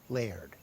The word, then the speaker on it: Laird: Yeah, one syllable, Laird.